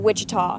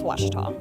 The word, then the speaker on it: Ouachita: Back in Texas, everybody pronounces it Wichita, but really, it's Ouachita.